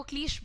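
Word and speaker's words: cliché: सो ये क्लीश नहीं होता है, दिस इज क्लीशे। इसका प्रोनाउंसिएशन हो जाएगा शे, क्लीशे, और च नहीं। यहाँ पर आप हार्ड साउंड नहीं प्रोनाउंस करेंगे CH का, आप सॉफ्ट साउंड प्रोनाउंस करेंगे। You will call it क्लीशे।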